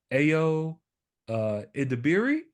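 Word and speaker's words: Ayo Edebiri: I pronounced her name just right it's uh AO uh iiri I hope I pronounced your name right I think you I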